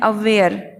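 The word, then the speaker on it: aware: अगला मीनिंग लिखा है मैंने अवेयर। बताइए इसमें किसको साइलेंट करना होगा हमें? गेस कीजिए एग्जैक्टली आर को। तो हम आर को नहीं बोलेंगे, हम बोलेंगे अवेयर, अवेयर।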